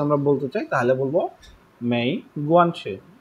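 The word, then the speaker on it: 没关系: জি তুই পুছি, তুই বুঝছি, কিন্তু পড়া হয়েছে, মেই গুয়ানছি, মেই গুয়ানছি, তুই পুছি, তুই পুছি, মেই গুয়ানছি, মেই গুয়ানছি,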